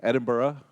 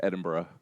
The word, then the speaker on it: Edinburgh: so as he says I'm from University of Edinburgh that's how to pronounce that so if you learned nothing else from my lectures it's Edinburgh uh that's the Royal